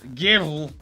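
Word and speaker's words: Gävle: town of gobble yeah gamble is its ah right it's pronunciation I thought it was like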